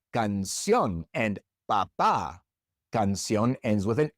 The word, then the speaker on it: canción: But in each of these words, we stress the last syllable, and so we have to write an accent mark above that last vowel.